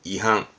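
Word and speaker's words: 違反: 발음은 한서급 반칙의 한석규 한석규 이거는 윗자에서 위반하다 발음은 2항 뭐 교통위반의 위반 2항 2항 요거는 항자예요 그래서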